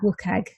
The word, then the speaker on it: WCAG: So I'll be saying WCAG, which is how I tend to pronounce it quite a lot this afternoon.